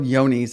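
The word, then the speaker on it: Johne's: Oh, the one we were talking about, it's called Yoni's. It's spelled j o h n e s.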